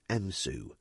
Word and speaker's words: EMSOU: midlands special operations unit or emsou we pronounced it msu undercover tactics were becoming